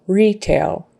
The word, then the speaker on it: retail: Accent is on that first syllable. Retail.